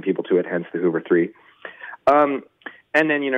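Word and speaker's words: Hooveriii: no I had the same thing it's actually pronounced Hoover 3 and I think they may have dug themselves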